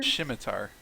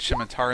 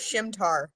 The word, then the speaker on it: scimitar: I said scimitar in the Narnia books. And I always thought it was Shimtar.